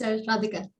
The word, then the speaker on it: Radhika: Okay, so Radhika, am I pronouncing that correctly? Yeah, that's Radhika.